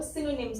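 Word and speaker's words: synonyms: Singh, S वाई को Singh, no को न के ऊपर ओ, एन वाई को ने, और एन में ये आधा म आ रहा है, और एस की यहाँ पे क्या साउंड आ रही है?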